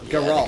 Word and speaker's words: Geralt: Geralt. Yeah, it's Geralt. It's Geralt. But I can't. I've said Geralt. I can't stand it because I want to say Why was Geralt I so going up there?